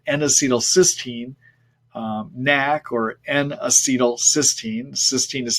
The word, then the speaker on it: N-acetylcysteine: by taking something called an acetylcysteine Knack or n-acetylcysteine cysteine is spelled c-y-s-t-e-i-n-e uh 500 milligrams three times a